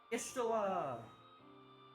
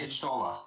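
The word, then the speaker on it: Y'shtola: Ishtula! We're gonna get to see our cat girl again. Oh, Ishtola, right, Yeah. yes. Sorry. I usually don't care if people try and pronounce it with an I.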